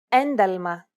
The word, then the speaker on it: ένταλμα: When these double consonant combinations are within a word and after a vowel, they are usually pronounced with nasalization, and they sound like this.